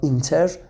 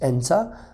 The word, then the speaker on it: enter: The pronunciation inter and entrance, okay, are both incorrect. So inter is wrong and entrance is also wrong. So the correct pronunciation is enter and entrance.